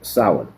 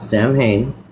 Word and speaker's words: Samhain: Now, this word right here is Samhain, okay? This is a Season of the Witch Samhain edition. It's not Samhain.